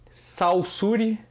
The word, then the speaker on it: Saussure: fernando é só seguir saussure saussure eu vou botar aqui como se escreve mas fala só seguir o cirque por um